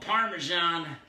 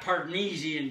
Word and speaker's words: Parmesan: old before i recognized this was called parmesan not pardnesian cheese i pronounced it that way for a long time i think you might